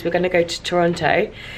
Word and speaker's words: Toronto: going to go to Toronto they call it Toronto here they don't pronounce the T but we've got to